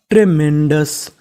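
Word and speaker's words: tremendous: DOUS OUS को हम लोग इंग्लिश में पढ़ते हैं अस, यानी कहीं पर आपको OUS लिखा मिले तो उसका उच्चारण करना है अस। तो मीनिंग बन गई ट्रेमेंडस, ट्रेमेंडस।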